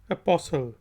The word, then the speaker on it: apostle: अब हम ऐसे वर्ड्स देखते हैं जिसमें टी साइलेंट होता है। पहला वर्ड है APOSTLE, इसको हम कहेंगे अपोस्टल।